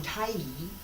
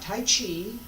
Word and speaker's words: Taiji: Wudang Taiji, not Tai Chi, not Taiji. Okay, Taiji, Taiji Chuan, Tai Chi with the American pronunciation.